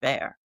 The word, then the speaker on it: Bayer: It's just pronounced Bayer in English.